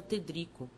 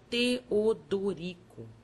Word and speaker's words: Teodorico: o padre triste perguntou meu nome que eu pronunciava ter Drico o outro amorável mostrando os dentes frescos aconselho me que separar sílabas e dissesse Teodorico e depois acharam e